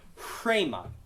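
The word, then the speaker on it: ῥῆμα: Rhema, yes. So, but because it has that rough breathing mark, you would do rhema. So you kind of pronounce it with, as if you're trying to do HR, rhema.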